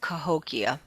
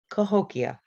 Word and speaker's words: Cahokia: from saint louis is how do we i've heard him pronounce it cahokia cahokia sorry no that's okay